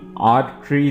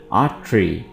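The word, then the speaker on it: artery: ट्री आ ट्री Riyan इसको बिल्कुल आर ट्री नहीं पढ़ना है आर ट्री नहीं पढ़ना है आ ट्री आ ट्री श्रिया डेंस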